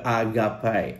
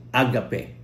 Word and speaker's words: agape: na ito ay ah ang pronunciation nito agapay o agape at ang meaning po nito ay love benevolence good will steam floor love feast.